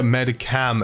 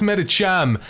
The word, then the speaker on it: Medicham: with my Mega Medicham, or my Mega Medicam, as I would usually pronounce it, but it's Medicham, I guess, officially.